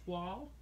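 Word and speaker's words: Toile: You're going to hear this called a lot of things, but y'all know it's pronounced Twall. Like it's got a W in it.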